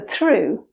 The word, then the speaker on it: through: The English pronunciation for through contains the U sound, so it sounds like through.